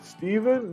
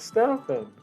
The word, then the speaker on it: Steffen: The commercial's Stefano? No, it's Stefan. Steven? No, it's Stefan. Stefan? No, it's Stefan. Stefan. And then I would always